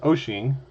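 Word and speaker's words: Wouxun: I'm using a Oing spelled walkon uh pronounced oshing uh 2meter 220 handheld.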